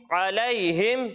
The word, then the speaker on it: علیہم: کیجئے۔ عین زبر ع، عین زبر ع، لام یا زبر لئی، لام یا زبر لئی، علی، علی، ہا میم زیر ہم، ہا میم زیر ہم، علیہم۔ علیہم۔ تو پیارے بچوں آپ کو ہجے سمجھ میں آئی؟